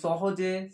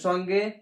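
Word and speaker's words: ثاء: সা উচ্চারণ হবে, জিহ্বাটা ওপর দাঁতের সঙ্গে লাগিয়ে হালকা জিহ্বা বের হবে এরকম।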